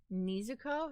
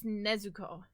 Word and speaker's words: Nezuko: No, it's Nezuko. I mean, have they watched the anime? I don't know. I've I've only ever watched Demon Slayer in Japanese. So, I do not know how they say it in English. I only have heard it in Japanese and it's Nezuko. So, that's how that's I mean, the Japanese is the original way to say it.